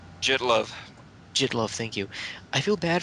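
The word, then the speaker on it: Jittlov: I hope I pronounced his name right. Jitlov. Jitlov, thank you.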